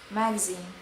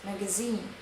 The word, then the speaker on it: magazine: In American, it's magazine. In British, it's magazine.